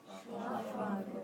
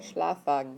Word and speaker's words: Schlafwagen: Schlafwagen. Schlafwagen.